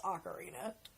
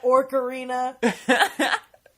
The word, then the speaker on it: Ocarina: I have to go off on a tangent on why nobody knows how to pronounce ocarina. Ocarina, Orcarina.